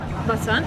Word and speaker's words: Basant: Know what is your name my name बसंत Basant, yes, yes, what is your name?